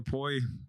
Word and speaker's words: Mpoyi: Got the boy Mpoyi. I also go by, you know? Yeah. I go by, though. So that's how you say it, Poi. So the M Mpoyi. is extremely silent.